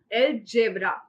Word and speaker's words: algebra: Topic for today is एल जेब्रा। यहां पे pronunciation थोड़ी सी अलग है।